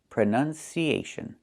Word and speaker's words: pronunciation: That's a short uh sound like cup and up. Prenun. Prenun. So the two first vowels are the same sound. Uh u prn. Closed and relaxed. Pron pronunciation not pronunciation.